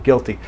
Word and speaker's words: guilty: Give is with the short I, and there's no U in give, and guilty has the exact same starting combination, guilty.